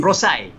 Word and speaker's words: Prosci: How do you pronounce it? They call it ProSci, you know, ProSci. professional ProSci. science, I believe.